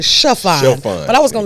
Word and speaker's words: Shaphon: You know you pronounced it really good, but it's Shaphon.